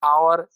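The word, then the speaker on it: hour: उसी में देखिए एन आवर, एक घंटा, तो एच से शुरू है, कॉन्सोनेंट लेटर है, लेकिन हिंदी में उच्चारण आवर स्वर वर्ण से है, पहला अक्षर आ, तो इस कारण से एन लगा।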